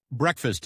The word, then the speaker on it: breakfast: Breakfast is pronounced breakfast. The a is short and the fast sounds like fist.